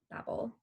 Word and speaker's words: Babel: And it is a paraphrase from Genesis 11 on the Tower of Babel, or Babel, depending on where you're from and how you pronounce it.